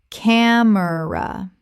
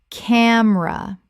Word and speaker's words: camera: Camera. Correct pronunciation. Camera. 2 syllables in natural speech. The middle vowel disappears.